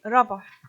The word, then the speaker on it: ربح: هو اسم مصري قديم أصيل، وبيتنطق في الكتابات خط الهيروغليفي ربح.